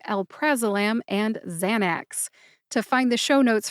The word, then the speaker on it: Xanax: the brand name Xanax this one only has two syllables xan which rhymes with San as in San Francisco and axe which is